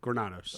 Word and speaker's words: Granados: real quick brother um pronouncation of your last name granados okay I got that right Matt granados um real